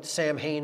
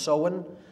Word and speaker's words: Samhain: Pronounced Samhain, it looks like Samhain in English, but it's pronounced Samhain in Gaelic, and that is Halloween, or Hallowmas, October 31st.